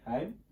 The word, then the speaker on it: Haim: Is that how you pronounce that? Yeah. Haim.